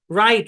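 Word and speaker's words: write: ঠিক আছে খেয়াল করেন শব্দের শুরুতে ডবলিউ আর থাকলে ডবলিউ সাইলেন্ট তালাওভাবে কাঁচা দিবে শব্দের শুরুতে ডবলি এবং আর যদি একসাথে থাকে তাহলে ডবলিউ সাইলেন্ট যেমন রিস্ট রিস্ট মানে হচ্ছে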